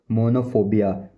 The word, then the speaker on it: monophobia: पहला जो है अकेले होने, अकेलेपन का डर, अकेलेपन, अकेलेपन का डर मतलब मोनोफोबिया मोनोफोबिया मोनोफोबिया मोनोफोबिया मोनोफोबिया।